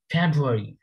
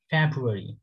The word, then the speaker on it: February: next one ফেব্রুয়ারি ফেব্রুয়ারি এই রটা মোটামুটি একদমই উচ্চ থাকে বললেই চলে র হালকা স্লাইডলি উচ্চারিত হয় বাট খুবই কম সময় যদি একদম ভেঙে ভেঙে খুব স্লোলি বলে তখন রটার উচ্চারণটা হালকা বোঝা যাবে আদারওয়াইজ আপনি রর সাউন্ডটা পাবেন না ইউকে অ্যাক্সেন্টে আমি আমেরিকান